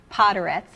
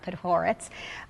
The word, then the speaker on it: Podhoretz: around the house and your name was Miss pronounced constantly as poetes and not P horites but um you were